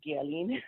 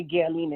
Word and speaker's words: Guerline: um my name is uh girlin um pronounce guelin most of the time so in case you see that I go in and out and say Galen instead um I am originally from Haiti I'm